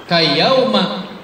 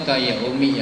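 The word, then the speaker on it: كَيَوْمَ: Kayauma waladathu ummuhu, seperti hari di mana emaknya melahirkannya. Kayauma ini menarik. Ya. Mestinya kan kayaumi ya, tapi disuruh bacanya kayauma, kita ngikut aja.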